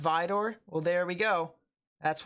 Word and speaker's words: Vidor: It's pronounced Vidor.